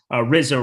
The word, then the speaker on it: Rizzo: suspects uh aaron judge rizzo rhymes with lizzo a new man on